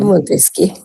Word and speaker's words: Montesquieu: Pues es Montesquieu. Ah ah sí. Es Montesquieu. Muchas gracias por esa aclaración. voy a comenzar a corregir es Montesquieu. Muy bien, gracias. Montesquieu y se pronuncia Montesquieu, sí.